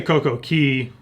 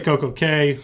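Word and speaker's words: CocoCay: okay your coke okey I say Coco key some people say Koko K because castaway key is spelled exactly the same what it is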